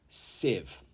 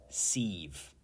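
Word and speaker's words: sieve: think like that 31 Civ Civ not seeve C and this is a tool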